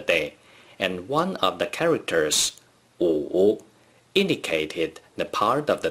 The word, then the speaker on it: 午: 午 is the third tone.Please pronounce it after me. 午午午 In ancient China, for